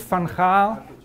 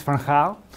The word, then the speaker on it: Van Gaal: If I ask the group over there, where should Van Gaal, apparently you pronounce it in English, but it's weird, he's Van Gaal.